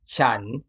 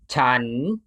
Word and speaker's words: ฉัน: using ฉัน ฉัน however in everyday spoken time ฉัน is often pronoun ฉัน ฉัน The main reason I recommend this to pronounce is because Thai has many different personal